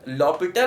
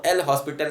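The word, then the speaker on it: L'Hôpital: तो खैर लॉपिटल कहते हैं उसको, एल हॉस्पिटल नहीं कहते हैं, ठीक है, सही तरीका ये है।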